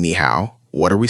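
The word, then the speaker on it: 你好: Both of these words are actually the third tone.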